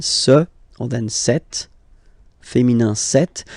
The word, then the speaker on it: cette: Okay, so let's see that again, ce, or then cette, féminin cette. So you can notice that phonetically these two are pronounced the same way, okay? Cette here and then cette here.